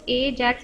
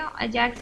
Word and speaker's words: AJAX: और आप इसको एजैक्स भी बोल सकते हैं, अजैक्स भी बोल सकते हैं। ठीक है, आप चाहे जैसे भी प्रोनाउंस कर सकते हैं।